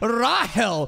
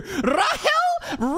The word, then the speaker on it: Rahel: What do you mean, Rahel? Where did the C go, bitch? You removed the C and put a fucking dash in there. Rahel? Rachel, dude. Come on. Rahel, she literally taught him how to read, right?